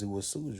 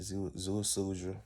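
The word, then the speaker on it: Ziusudra: And it's this guy named Atrahasis, and his other name is Zuasudra. You know what I'm saying? It's different ways to pronounce it. Everybody say it different, but that's how I say it. Zuasudra and Atrahasis.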